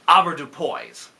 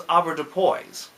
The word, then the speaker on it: avoirdupois: It's a French word, but darn it, we're Americans, so we're going to pronounce it avoirdupois.